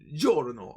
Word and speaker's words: Giorno: you japanese knows that that's giorno like like me that's like me going you know apollo oh i like it i like it that's not how they say it probably right now i spit really bad right now but uh that's not right they're both ja ju jo they're all j sounds let me explain okay